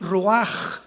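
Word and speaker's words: רוח: La palabra para espíritu en el hebreo es la palabra que es roaj, que se escribe rua con ch, pero repito, ese pronuncio pronuncia como J. Roaj.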